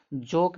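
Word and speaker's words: joke: जोक में देखो ओ का उच्चारण ओ निकल रहा है।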